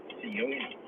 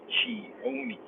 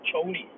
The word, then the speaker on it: Cioni: She schooled me to the fact that Tommaso's last name is not Cioni, but is actually pronounced Chioni. Now, I quickly Googled this so as not to be punked by Nan, and it really turns out that she was not kidding. Google was even more strict with the pronunciation and just straight say Choni, but I'm not going to call him Choni.